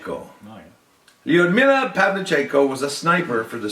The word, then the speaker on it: Lyudmila Pavlichenko: could look at this name and try and pronounce it properly. For our last person that history may have forgotten, Right? Lyudmila Pavlichenko. Oh, yeah. Lyudmila Pavlichenko was a sniper for the Soviet Red Army during World War II.